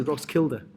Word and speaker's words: Roskilde: But it's actually Roskilde. Is that That's how how it's it's spelled?